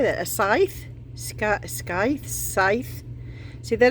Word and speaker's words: Scythe: Scythe.